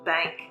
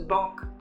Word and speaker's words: bank: The difference between bank and banque, as you would pronounce it in French, those are two completely different words in English. So saying I went to the banque is nonsense.